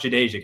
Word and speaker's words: Jadeja: So they told me they would be like, it's pronounced Jadeja, Kevin. And I'm like, okay, perfect. I later found out Jadeja hates being called Jade, so good thing I never said that.